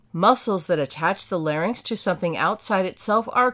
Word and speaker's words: larynx: The larynx is the protective cartilage that houses the vocal folds. The correct pronunciation, by the way, is larynx, not larynx.